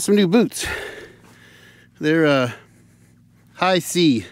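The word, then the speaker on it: HISEA: new boots they're uh High SE is how they pronounce that h i s e a high SE these are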